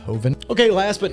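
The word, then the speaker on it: Jovan: or something that and I think Hoven spelled j o v an but again I think it's pronounced hovind okay last but not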